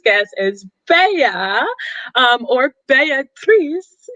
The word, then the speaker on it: Beatrice: is beya um or beatrice is how you pronounce it in italian i just learned that